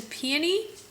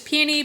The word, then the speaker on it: peony: perusing the options, and she told me I say it wrong. I want to hear from all of y'all because she's from South Carolina and she says it's peony, and I said no, I've never heard that.